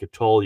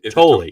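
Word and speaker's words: Tolle: You pronounce the E. So, it's not like a toll. You go through totally.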